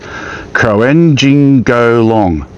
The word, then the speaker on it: Croajingolong: We're at the region known as East Gippsland, and we're at, I can't get it wrong this time, the pronunciation, so Croajingolong.